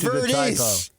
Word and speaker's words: Verdes: and going to Palos Verdes, which I misspelled. You butchered it. I hit the I instead of the O. They're right next to each other. And it's Verdes. It's not Verde.